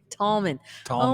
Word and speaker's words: Tallman: Tallman.